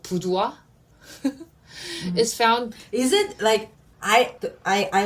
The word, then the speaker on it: Boudoir: Sarah Kim, the Asia regional director of luxury brand called Boudoir, is found... Is it I always wonder the correct way of pronouncing that brand if it were real. It's supposed to sound like French.